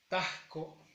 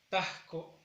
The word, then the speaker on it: tajco: No es taco, es tajco. Tajco. Alargamos la A y acentuamos.